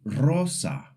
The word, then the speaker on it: rosa: But a single R makes the ruled sound at the beginning of a word like rosa which means rose or after the letter l n or s.